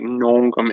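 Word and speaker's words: noongom: Although some people might see two O's together and think of like tune, like a teletune or whatever, or tune a guitar, but it's always more of an O sound. Like Nongum is how we say today, and that's spelled with two O's at the first sound.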